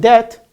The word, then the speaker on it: debt: If the ba sound followed by ta and doubt, like for example here, settle, almost at the end of the word, and debt, it becomes silent.